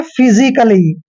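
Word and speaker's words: physically: ए silent होता है जहां पर डबल एल और वाई आ जाए ए के बाद वहां पर ए का उच्चारण हमने नहीं करना है जैसे हमारे पास कुछ एग्जांपल है जैसे यहां पर देखिए पी एच वाई एस आई सी A double L वाई इसको हमने पढ़ना है फिजिकली फिजिकली नहीं पढ़ना है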